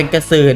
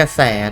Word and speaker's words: กระแส: นี่ กระแส นะ ฮะ ท่า ที่ จะ อ่าน เป็น กระสื่อ นะ ครับ อัน นี้ อ่าน ว่า กระแส นะ ฮะ โอ้โห กระแส